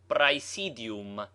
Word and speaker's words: praesidium: Thus, praesidium has 4 syllables. Prae, si, di, In dividing a word into syllables, a consonant between two vowels belongs to the second, as rexeramus.